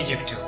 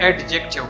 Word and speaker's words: adjective: इसका पूरा नाम है एजेक्टिव। अक्सर हम इसको एडजेक्टिव पढ़ते हैं, एडजेक्टिव। इसमें डी जो है वो साइलेंट है, जबकि पूरा लफ्ज़ हम